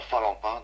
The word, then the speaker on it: Phalempin: Et donc cette forêt-là se situe à Falampin, donc c'est la grande forêt de Falampin. Falampin, d'accord, ça s'écrit comment, Falampin.